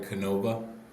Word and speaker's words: Canova: Am I pronouncing this right? Canova.